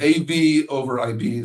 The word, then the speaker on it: AVoIP: Uh and that acronym really bothers me because I always see as a VOIPE guy, obviously AVOIPE. Uh but but uh but it's AV over IP.